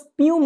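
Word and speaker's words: spume: দেখো ওটা স্পিউম উচ্চারণ কিন্তু, হ্যাঁ, অ্যান্ড the seize girls crying.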